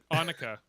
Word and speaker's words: Annika: Annika. It rhymes with Monica, remember?